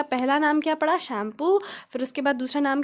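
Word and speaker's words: Tsangpo: और वहाँ पे इसको शैम्पू कहा जाता है, ठीक है। यहाँ पे टी साइलेंट रहता है, इसको शैम्पू कहते हैं।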